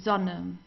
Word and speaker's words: Sonne: Die Sonne, the same. Here we have a double consonant, so we pronounce the vowel before that, or in front of that, very briefly. Die Sonne, Sonne.